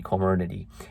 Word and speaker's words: Comirnaty: I don't know if I'm pronouncing that correct. It's Comirnaty.